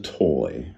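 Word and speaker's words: Toye: still picture his face, Mr. Toy, spelt, I even know how to spell it. It had an E at the end, T-O-Y-E.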